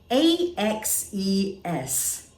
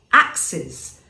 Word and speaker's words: axes: then you will have axes see how slight the difference is in pronunciation that's how confusing it